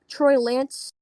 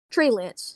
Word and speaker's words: Trey Lance: maybe even take um troy lance trey lance sorry for my butcher of that pronunciation trey lance would go